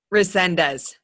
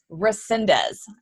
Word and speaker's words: Resendez: how do you say your last name correctly Resendez Resendez yes you've got it sexy actually thank you